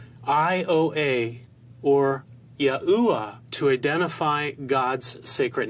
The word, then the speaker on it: Yahuwah: the phonetic sounding of God's sacred name as Yahuwah or Yahu.